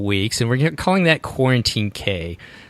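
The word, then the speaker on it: Cuarantine Cay: and we're calling that Quarantine Cay. So it's spelled CUARANTINECAY 5K.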